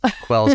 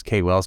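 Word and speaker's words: KWells: Quells Companies, which I pronounced as Kay Wells Companies for the longest time, until I started listening to your podcast and realized that we were going to pronounce it Quells.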